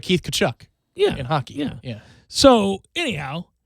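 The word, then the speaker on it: Tkachuk: You don't pronounce the T, do you? No. It's like Keith Kachuk in hockey.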